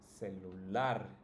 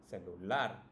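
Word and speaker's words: celular: ending words for example cellular now if you notice it's also the last right the last syllable that's pronounced the strongest cellular familiar partic PE and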